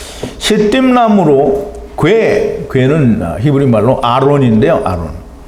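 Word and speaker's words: ארון: 아론. 발음은 똑같습니다. 단어는 틀린데 모세의 형제되는 예수 그리스도의 그림자인 아론과 똑같이 이름은 아론입니다. 발음은 똑같이 아론인데요.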